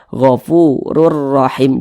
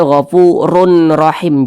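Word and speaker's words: غفور رحيم: masuk ke huruf Ro Jadi dibaca gofururahim jangan dibaca gfurun rahim jangan tapi langsung masuk ke huruf ro gofurur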